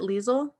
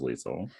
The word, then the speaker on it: Lisle: i watched the movie is it liesl yeah i think i thought it was lisa okay because the way they spell it doesn't look like weasel so he asks if